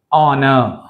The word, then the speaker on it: honor: First వర్డ్లో honor, H silent, O is pronounced as a vowel sound.